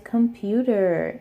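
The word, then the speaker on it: 컴퓨터: Something to note in Korean is that their aspirated consonants are a lot stronger than English. So even though we also use a K sound, a P sound,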